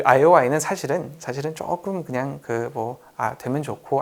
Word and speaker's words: IOI: 이걸 읽을 때 LOL이라고 읽으면 안 돼요. 웃는 게 아니에요. LOL이 아니라 IOI.